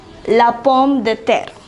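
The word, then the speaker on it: pomme de terre: so would you like to know how to pronounce them and what they mean the first one is it means potato la pom de ter the next one is la karot it means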